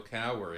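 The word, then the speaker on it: Cowher: had Bill K uh to say his name pronounce Bill Cower in uh he would last at 14 Seasons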